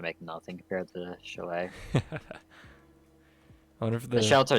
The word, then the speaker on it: chalet: It's chalet.